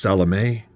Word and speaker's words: Salome: In uh the Japanese anime, I'm pretty sure it's just Salome. That last m e is may for sure, I think.